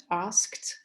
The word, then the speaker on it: asked: in pronunciation and so when this ed ending so when it's uh there is a preceding voiceless consonant then it's constantly pronounced comes to be pronounced as voiceless for example in the word asked where it's clearly asked and why is that